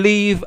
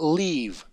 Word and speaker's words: live: We are in the flesh, but we don't live after flesh. Again, what do you actually mean by this? Man, work on your accent. It's pronounced live, not leave.